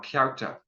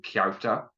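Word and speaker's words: cearta: So ta and then kyarta, the CE is one vowel sound. The E just means pronounce the C as if there's a Y after it. And then the sound you make there is ah.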